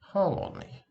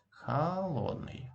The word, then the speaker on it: холодный: Whenever this letter is not stressed, it should be pronounced as A. And in this part of this word, this letter is not stressed. So it sounds like холодный, холодный. Okay?